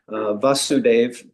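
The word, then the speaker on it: Vāsudeva: So it's such a Sanskrit language is so subtle that uh the father is a a short a va vasuv and the son Krishna his name is vasuave.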